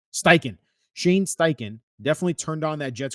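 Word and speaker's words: Steichen: stain how do you say his last name Sten Sten Shane styken definitely turned on that Jets Cardinal tape and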